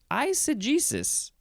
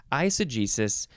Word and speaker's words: eisegesis: Eisegesis. You can also say, what is the difference in, we got, so you're either emphasizing the G, eisegesis, or you're emphasizing the first syllable, eisegesis.